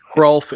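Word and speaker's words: Hrulf: Cr is spelled H R U LF. You pronounce the H.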